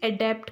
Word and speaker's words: adept: ADAPT, इस अडेप्ट का मतलब होता है किसी भी परिस्थिति में अपने आप को ढालना, एडजस्ट करना। और ADEPT जिसका प्रोनाउंसिएशन ADAPT से है, इसका भी अडेप्ट ही होता है, इसका भी अडेप्ट ही होता है।